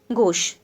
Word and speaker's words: gauche: और दूसरा एक वर्ड आपको दिख रहा है, ये कहाँ है, ये गोश, ठीक। तो ये जो गोश है ना, ये स्पेलिंग देख लीजिए, GAUCHE, ये है फ्रेंच का लैटिन वर्ड, ठीक है, ये है फ्रेंच का लैटिन वर्ड।